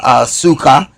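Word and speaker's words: סוכה: find Tabernacles which is Sukho pronounced suka which is thicket covert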